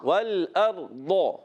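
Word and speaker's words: والأرض: تو ضاد کو ہم نے دال نہیں پڑھنا، والارض دا بھی نہیں پڑھنا، والارض ڈال بھی نہیں پڑھنا، والارض ضا بھی نہیں پڑھنا. اور بعض جو ہے غین کے تلفظ بھی پڑھتے ہیں، والارغ والارغ، غا بھی نہیں پڑھنا. یہ ضاد اس کا اپنا تلفظ ہے.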